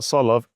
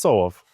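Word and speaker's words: Tsolov: Or as my girlfriend calls him, or has to pronounce it in Bulgarian, Right. Nikola Solov. Okay. It's not Solov, it's Solov.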